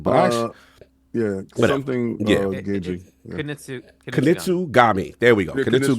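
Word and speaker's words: Kunitsu-Gami: I already pronounce it, but actually. Yeah, something Gagey. Kunitsu Gami.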